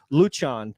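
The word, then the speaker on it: Lucian: they would teach you well this is the Romanian way like luchon for L like it was l u c i a an I said oh well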